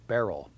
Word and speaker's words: Beryl: Apparently there is some confusion on the pronunciation of the name, so there it is, Bear, like the paint brand kind of, real Beryl.